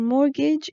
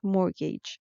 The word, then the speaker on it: mortgage: bank the synonym for mortgage is debt that also the b is silent just like mortgage the t is silent next word is great